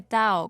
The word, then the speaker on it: Tao: De cualquier forma, con T o con D se pronuncia Tao.